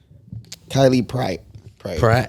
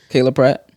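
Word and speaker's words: Kyla Pratt: quick to see the Kylie Pratt. Kylie Pratt. Kayla Pratt. That's how you say it? Yeah.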